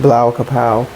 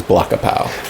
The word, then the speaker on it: Blawkahpow: IG Blau Kapow. So you're gonna have to spell that. BLAWKAHPOW. Yep. Yeah. I'm glad I heard you say it because I definitely thought it was Blackapow.